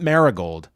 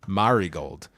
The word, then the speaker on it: Marigold: put everyone on notice not maragold Marigold yeah and Karen giving